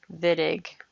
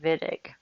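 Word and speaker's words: Wittig: reaction and C is W but it's actually pronounced the vidig so you'll hear me say vidig with a v vidic this is actually a Nobel Prize winner you'll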